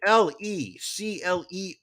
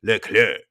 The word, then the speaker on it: Leclerc: again called mark andre even though he spells it l-e-c-l-e-r-c which i would pronounce it leclerc but apparently when you're canadian you get to just pick and choose which letters you're going to just not pronounce in your name because um l-e-c-l-e-r-c is le clerc but the entire hour and 45 minutes they call him le claire nuclear look here